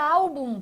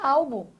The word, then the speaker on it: álbum: A tonicidade da palavra está nessa sílaba aqui, ó. Au, você não fala album, você fala album. Tá vendo? Está vendo a diferença?